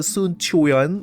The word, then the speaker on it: Sun Quan: At least have like the Sun Chuan, you know, a little bit of the Chuan. If you have the Chuan, at least you pronounce it as CH. I'm okay with that. But if you say that Sun Quan, I will shit my pants.